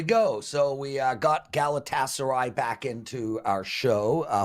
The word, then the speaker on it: Galatasaray: and0 on the show uh and it is pronounced in case if you forgot PR Galatasaray plus one came through so hopefully I can